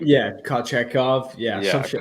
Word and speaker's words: Kochetkov: And then obviously, I can't pronounce this. Kocheko? How do you pronounce his name? Yeah, Kochetkov. Yeah, some Yeah, shit like that. Kochekov.